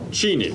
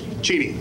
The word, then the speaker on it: Cheney: you you said your you pronounced your name cheni cheni that's right which is the way I think he pronounces except all the rest of us have said Cheney for so long he's kind of caved in I think we just caved into Cheney is it actually cheny